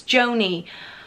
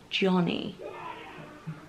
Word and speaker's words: Joni: the journey the journey actually its Joanie I never pronounce Ariella anything right I think I just did that again because I do have a feeling it's Joanie and not Johnny out the journey jeans